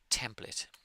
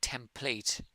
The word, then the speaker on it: template: Whenever you see a word that ends in ate, especially candidate, like certificate, candidate, template, the vowel at the end is very lazy, I would say.